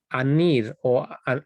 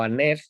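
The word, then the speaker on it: ἀνήρ: Otra diferencia que notamos es que aquí sale, podemos ver aquí, anir, anir la pronunciación griega moderna, o aner, como también se puede decir.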